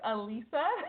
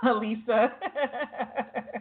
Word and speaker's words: Alissa: benefit of the doubt it is spelled Alissa but my mama said it's pronounced Alisa got it so let's